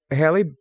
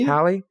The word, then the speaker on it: Halle: And you know, it works because Hailey Bailey Hailey Bailey, is that how you say it? Is it Halle? Halle.